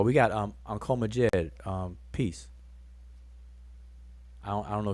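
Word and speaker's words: Djed: that um the word jed is there's a couple of words in the egyptian language that that is the word jed like we pronounce it as jed and so the one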